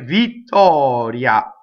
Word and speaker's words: Vittoria: Now, in this case, the second one is called a semi-vowel. The first one is a strong, pure vowel. Vittoria. So the second one glides, so that's a semi-vowel. Okay, A, the A is always A.